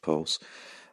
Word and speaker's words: PVLSE: As well as that, we heard from Maria Rubak, founder and CEO of Pulse, which is spelled PVLSE. I'm making a wild assumption it's pronounced Pulse.